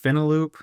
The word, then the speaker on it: Finaloop: Speaking of finance, is it Final Loop? I don't know if you say pronounce it. I think it's Finaloop.